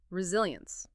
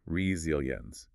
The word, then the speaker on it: resilience: First up, resilience. For resilience, we say resilience. Notice how the S sound here is actually a soft Z sound.